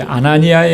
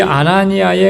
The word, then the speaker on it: 아나니아: 이 아나니아라고 하는 이름은 헬라 음역된 이름, 헬라어로 발음이 되는 이름이에요.